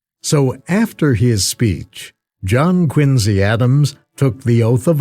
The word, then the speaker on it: Quincy: a biography of John quinsey Adams quinsey inly is how the family pronounced it the historian tells this